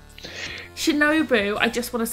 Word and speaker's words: Shinobu: know i can be but it's akira hokuto shinobu i just want to say shinobi so to say it right once on this